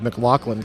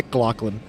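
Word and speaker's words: McLaughlin: over the pronunciation of Mclaclin cuz most people use the G in there, the Mclaclin, and I was like, "No, no, it's Mclaclin."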